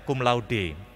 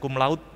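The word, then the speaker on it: cum laude: ya Misalnya kalau ada wisuda dengan predikat cumlaud padahal membacanya gumlaude seperti membaca mirip tulisannya karena itu berasal dari bahasa latin artinya dengan pujian tapi kita biasanya mengatakan lulus dengan kumlaud begitu ya atau tulisan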